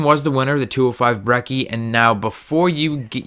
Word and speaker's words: Brecci: the comments, "You're not saying it right, it's Brecci, blah blah blah." I don't care. From now on in this video and from now on BlackTideTV, it's going to be called the 205 Breck, and that is what I'm going to call